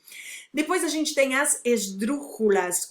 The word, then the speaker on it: esdrúxula: Uma esdrúxula, a palavra esdrúxula é uma esdrúxula. Sílaba tônica é a terceira.